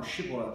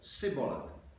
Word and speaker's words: Shibboleth: Ephraimites, however, to the command, "Say now Shibboleth," responded Sibboleth, because they couldn't pronounce this word in the same manner as the men of Gilead, and this betrayed them.